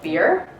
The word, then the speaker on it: Byrrh: this this is beer looks like bird but it's pronounced beer and the third one